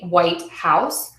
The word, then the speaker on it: White House: the same importance but if I'm talking about where the president lives I would say the White House the White House so my first word is going to be stressed and my second word